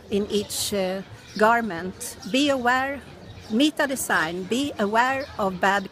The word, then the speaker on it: Mita: Yes, I always been Mita because that's my How name. do you spell that? M-I-T-A. Oh, Mika. Mita. M-I-C-A. No, T. Oh, with a T.